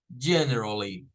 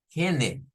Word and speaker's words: generally: no es como decir Gen no es como pensamos en español que es la G con la e la n la r y la e no es Gen Gen generally generally entonces si yo digo